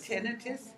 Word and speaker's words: tinnitus: Tinnitus.